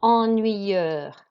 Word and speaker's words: ennuyeux: And here we've got ennuyeux. You do not pronounce the X.